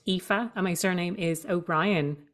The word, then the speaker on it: Aoife: spell my name name it's spelled a o i f e and it's pronounced epha and my surname is